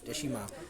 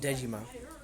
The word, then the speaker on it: Deshima: We are not calling it Dejima Sounds, we are calling Deshima Sounds because that's also how we Dutch people pronounce Deshima, not Dejima. And if the Dutch would pronounce, then they call Dejima, and that even sounds worse.